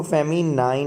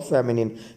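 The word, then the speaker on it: feminine: The right pronunciation of this word is not masculine, ये लिखा हुआ है जी, ठीक है. और इसको फेमिनाइन नहीं पढ़ते, ना ये लाइन है और ना ये नाइन है. इसे क्या पढ़ते हैं? राइट प्रोनाउंसिएशन इसका क्या है? मस्कुलिन और फेमिनिन.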